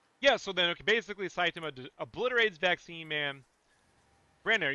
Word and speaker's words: Saitama: So then okay, basically Saitama obliterates Vaccine Man.